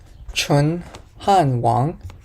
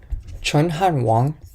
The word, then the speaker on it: Chun Han Wong: part of one by I think it's chunan Wong or Wong chunan Wong I think that's how you pronounce his name but he is a